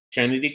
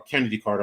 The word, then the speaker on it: Kennedy Carter: with they were without chennedy uh chennedy Carter um or Kennedy Carter I'm sorry that's her name I call it chity because of the way it's spelled but um yeah um